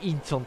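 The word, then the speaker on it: 仁川: 仁川と書いてインチョンと読みます。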